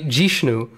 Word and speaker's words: Jishnu: one guy who actually called me Jishnu, which is my Bong pronunciation. So it's technically not wrong.